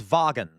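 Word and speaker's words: Wagen: Okay, regardless, um, so W, when you see a W in German, it's pronounced as a V.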